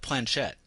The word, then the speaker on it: planchette: It's like Kate Blanchett.